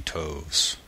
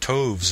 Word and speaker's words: toves: how to pronounce slithy toves the eye in slythe is long as in writhe and toves is pronounced so as to rhyme with groves again the first o